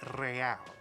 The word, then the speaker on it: real: you owe me 130 real it pronounces the r with a mock aristocratic accent real the iir or